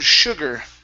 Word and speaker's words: sugar: go to the word sugar okay this is uh instead of shoe sugar sugar act one more time sugar sugar act cigarette